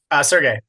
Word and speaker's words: Sergey: Sergey.